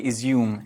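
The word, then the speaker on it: Izium: for me to say izum is the pronunciation um really harrowing site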